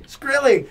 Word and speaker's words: Shkreli: Shkreli.